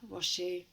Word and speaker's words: Rosu: have to search my name in YouTube wasu um YouTube and I pop up that's very easy your your surname is spelled r o s u just for anybody